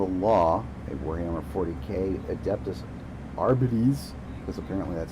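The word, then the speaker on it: Arbites: I am the law, a Warhammer 40k adeptus arbit because apparently that's how you say it.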